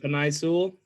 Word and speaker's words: Penei Sewell: Because I don't want to butcher the name. Penei Sewell. There you What? go. Is it Penei Sewell?